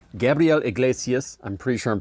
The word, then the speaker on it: Iglesias: Gabriel Iglesias. I'm pretty sure I'm pronouncing that correctly. Yes, Iglesias. Okay, Iglesias.